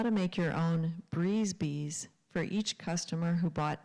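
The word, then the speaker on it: brise-bise: The craft store was offering a free class on how to make your own breeze bees for each customer who bought 10 yards of fabric.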